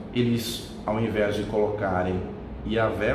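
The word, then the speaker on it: יהוה: A pronúncia mais próxima, muitos estudiosos dizem que seria Yahvé, né?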